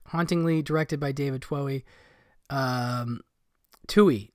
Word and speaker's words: Twohy: Twohy, I think that's how you say it, Twohy.